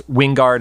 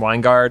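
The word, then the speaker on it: Wyngarde: it back on Jason there are two ways of saying it even in the show they say it differently it's Wingard and wiu guard I just end up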